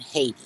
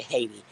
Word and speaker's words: Haiti: We all tend to say Haiti. But I was told that the correct pronunciation for it is Haiti.